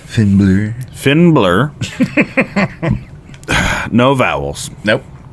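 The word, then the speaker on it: Finn Bálor: It's pronounced Finnblur.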